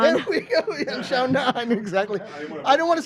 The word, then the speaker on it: Yan Xiaonan: I mean, from the last UFC fight that you won against, someone help me pronounce her name. Yan Xiaonan. There we go. Yeah, Xiaonan, exactly.